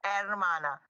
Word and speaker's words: hermana: Please don't pronounce the H for hermana. It's hermana.